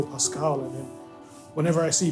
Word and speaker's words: PVSQVLE: Rocky and ASAP Mob they would spell a but upside down so it looks like a V like some people see the way it's spelled and then they go like it's hard to pronounce cuz it all looks like consents but some people see it and then they just immediately go Pascal and then whenever I